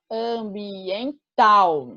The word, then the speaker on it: ambiental: tônica de cada palavra no caso de ambiental a sílaba tônica é tal ambiental e portanto essa palavra é oxítona que ela termina na